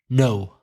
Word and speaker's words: know: No. Is that N-O or K-N-O-W? K-N-O-W, but the pronunciation is the same. No and no, N-O.